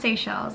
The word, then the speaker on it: Seychelles: I think it's pronounced Seychelles.